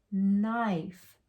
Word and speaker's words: knife: our k k n so we skip over this k it's quiet it doesn't say anything we could start doing our sounds right here knife knife like you cut